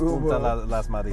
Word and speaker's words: Punta Las Marias: Now he has me calling it Puta too, but it's Punta Las Marias.